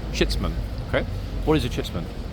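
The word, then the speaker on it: chitsman: is a chits man okay uh let me spell it c h i TS m a n shitman shitman okay what is a chitman good question in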